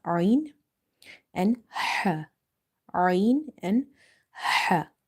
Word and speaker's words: ح: Ain and ha. In order to pronounce this letter ha, try opening the mouth wide and exhale the air out.